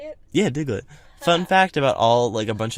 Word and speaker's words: Diglett: Yeah, Diglett.